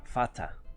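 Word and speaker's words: Vater: has visto el alemán si quiero pronunciar la palabra padre en alemán eso se pronuncia fatal en alemán el sonido r se pronuncia como a como el inglés es una lengua germánica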